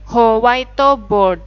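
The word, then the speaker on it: ホワイトボード: Inggris aslinya yah whiteboard jadinya howaito board howaito bodoh howto bodoh yaitu dari kata whiteboard artinya papan tulis putih Nah ini ya tadi ya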